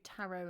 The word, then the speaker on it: tarot: Okay, so Ballet, Debut, Tarot, and Rapport all have a silent T at the end.